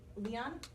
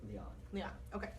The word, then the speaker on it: Lian: No, I'm sorry, "Li-on?" - Either way. I've heard it pronounced both ways from people who actually -- - What is your preferred? - I always pronounced it "Li-on." - That's what we're gonna go with.